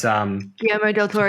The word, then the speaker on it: Guillermo del Toro: But I've heard the Guillermo, how do you pronounce his first name? Del Toro's. Guillermo del Toro.